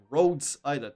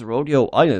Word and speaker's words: Rhodes Island: Gregor, you just heard her say Rhodes Island, not rodeo. That's a very different syllable. It seems that this Rodeo Island is a pretty big